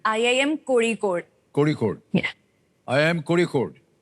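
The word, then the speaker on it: Kozhikode: ये IIM कोझिकोड कैसे pronounce करते हैं? ये IIM कोड़ीकोड।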